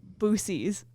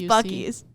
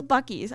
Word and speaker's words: Buc-ee's: Hayden calls Buc-ee's Boosie's. No, it's Buc-ee's. It's Buc-ee's. I've heard it pronounced.